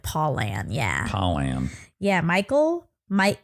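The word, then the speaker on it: Pollan: name is Michael pollen Michael pollen like the kind you would that would give you the sniffles p o l l a n palan sure think I know you're saying it correctly but I'm just phonetically it sound it is spelled like paulan yeah paulan yeah Michael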